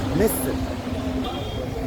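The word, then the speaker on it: مصر: Misr.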